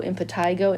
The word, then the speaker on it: impetigo: maybe you've heard of impetigo i don't know why that's how i pronounce it i think some people do impetigo and patego the key here is